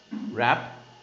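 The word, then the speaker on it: wrap: रैप, इट्स रैप. W का कोई जरूरत नहीं यहाँ पे, साइलेंट है.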